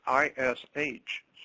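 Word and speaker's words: איש: And then later on, after she gives birth to something called Adam, man in Hebrew is ISH. It's pronounced Ishi.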